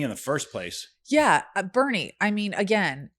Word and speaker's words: Boerne: Yeah, Bernie. I mean, again, it's spelled born. Sounds like Ernie. And it's Bernie.